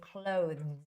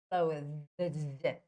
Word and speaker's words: clothes: is quite similar so you don't have to say clothe CL are you looking at my mouth and tongue close but just simply say close close so you sort